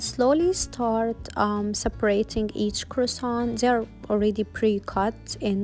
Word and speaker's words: croissant: snack called malto and it was like mini croissant filled with nutella i was so obsessed with them it was like my childhood and we actually pronounced it in french kawasan kawasan it took me a minute to know how